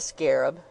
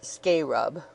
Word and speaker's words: scarab: Yes, he had seen the scarab. He pronounced it scarub, which Mr. Peters had presented to his lordship. He understood that his lordship thought very highly of Mr. Peter's scarub.